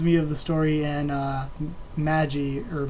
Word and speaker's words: Magi: of the story and Maji or Magi Maggie but I would say Magi because that's how you pronounce it I mean in English but whatever but the